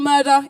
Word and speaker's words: Murdah: Spell Murdah, Idris. Well, how do you spell murder? On the album, I spell it M-U-R-R-D-E-D-A-H. Yes, one R. Which, if you're from Scotland, it's all right, it's Murdah.